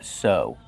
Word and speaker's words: sew: The verb is sew. Use a long O sound like no and go.